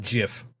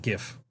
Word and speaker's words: GIF: And the guy who made the GIF file format says it's pronounced with a J with a J sound.